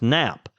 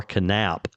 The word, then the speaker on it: Knap: I I could be wrong, but if the name is knap, K is usually silent, pronounced nap.